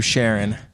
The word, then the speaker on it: Charron: So it is Charron. Okay. Yeah. Like Sharon, like SHA.